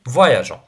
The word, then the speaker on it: voyageons: Avec nous mangeons, nous voyageons. On ajoute le E pour la prononciation.